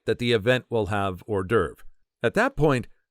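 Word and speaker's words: hors d'oeuvres: derv at that point I had never heard the word pronounced out loud I knew our derves were small appetizer type food that were not considered a whole meal I thought since they were appetizers meant to hold you over until the main course of a dinner party or an event that or derves were pronounced holdovers a posh way to say holdovers and an even more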